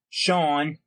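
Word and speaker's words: Shaun: Now that's spelled S-H-A-U-N, Sean, and his last name is spelled S-A-N-D, as in sand, beach sand.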